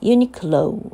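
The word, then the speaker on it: Uniqlo: to pronounce this word so I checked the pronunciation on YouTube a little while ago and uh it should be like uh uni low right o o sound at the end U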